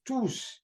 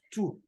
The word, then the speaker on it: tous: When to is used as a pronoun, the S at the ending is pronounced. That means that if we are using TOUS as a pronoun that is standing alone, that is not qualifying any noun or pronoun, then we'll pronounce tous, not two, right?